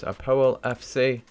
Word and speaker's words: APOEL: So the first team in Group P, official club from Cyprus, Apoel FC. That's how you pronounce it.